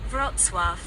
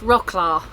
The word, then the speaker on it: Wrocław: Wrocław. Right. Now, not Rocklaw, which is how it looks on the map.